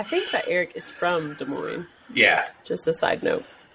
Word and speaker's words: Des Moines: I think that Eric is from Des Moines. Yeah. Just a side note. Or he's You from that area at know, least. Des Moines, neither of the two S's.